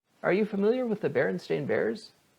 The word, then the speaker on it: Berenstain: Are you familiar with the Berenstain Bears? Spelled this way, S-T-E-I-N, yet pronounced stain?